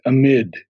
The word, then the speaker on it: amid: would point out is you say ahmed and i believe it's amid okay oh not amid but amid the on the second syllable amid a mint okay